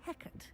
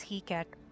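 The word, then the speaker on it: Hecat: Fortunately, we are lucky to have the ever-gifted Professor Heckert in charge of our students' education in that regard. I read it as he cat. Okay, thank God she pronounced it.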